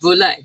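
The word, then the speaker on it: velouté: It's pronounced volet.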